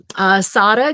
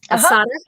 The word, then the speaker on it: Sada: Sada, good to see you. Is that how you pronounce it? Yes, it's like Sarah. Sada.